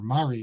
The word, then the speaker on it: Mori: It's called Mori, or Mari is how they pronounce it in Yemen.